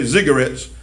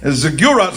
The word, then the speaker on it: ziggurats: Some people might say ziggurats. That rhymes with cigarette. But ziggurats, I believe, is the correct pronunciation.